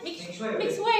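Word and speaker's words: Mixue: Mixu itu itulah menurut saya itu ya hanya marketing aja biar terkenalnya ada Mixu gitu. Makanya Mixway ya bacanya.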